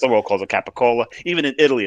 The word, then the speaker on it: capicola: The rest of the world calls it capicola. Even in Italy, it's called capicola. Right. It's only in this area. It's pronounced capicola. It's capicola.